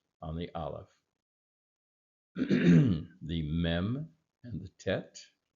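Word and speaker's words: אלף: And of course, the aleph is silent. It had I've seen, again, we don't know for sure the sound of the aleph, but in biblical times, it was considered to be a glottal stop.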